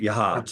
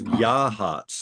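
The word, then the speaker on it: Yachats: right yahs yahs yeah it's not yahs it's yah hats I think man I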